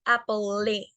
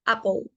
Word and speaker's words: apple: Podemos verlo en varias palabras que están en esta tabla, como en la palabra apple, que no se pronuncia la E, no es apple, no, es apple. Solo se pronuncia hasta la L.